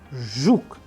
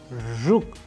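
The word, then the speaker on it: жук: The letter R can be practiced with an English word approximation as we use R in the word pleasure, pleasure. And in Russian we have used another example like zhuk, zhuk.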